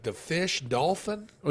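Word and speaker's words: Dauphin: Dolph like the fish dolphin oh you say it like dolphin but it's d-a-u-p-h-i-n dolphin probably dolphin dolphin but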